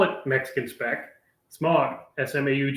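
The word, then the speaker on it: Smaug: Smog. I'm a New Yorker. It's how we say these things. That's that's how it's phonetically. Smog.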